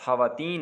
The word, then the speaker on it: خواتین: کے بعد واو آ جائے، اس کے بعد الف آ جائے، تو آپ نے واو کو سکپ کرنا ہے۔ جیسے خانی، خواب، خواہش، واحد ایک لفظ خواتین ہے جہاں پہ آپ نے واو کو تلفظ اس کا ادا کرنا ہے، باقی آپ نے واو کو پڑھنا نہیں ہے۔ تو اسی طرح قصہ